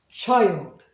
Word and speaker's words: child: 아까 I도 child. 그러니까 이 뒤 발음은 있는 듯 마는 듯, 할 듯 말 듯, 듯가 아니라 듯.